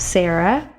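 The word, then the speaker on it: שרה: and while speaking hebrew the reish is a guttural sound it's made at the back of your throat so when i say sarah it's going to not it's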